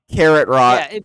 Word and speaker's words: Kakarot: fight us no not imagine you're saying carrot carrot rot there you go okay